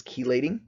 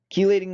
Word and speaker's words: chelating: a chelating ligand again there are other pronunciations of this word but I've always heard it as chelating chelating ligand czar really important